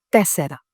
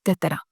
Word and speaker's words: τέσσερα: Τέσσερα.